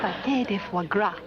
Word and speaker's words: pâté de foie gras: Pâté de foie gras. Oh, yeah, that's how they pronounce that.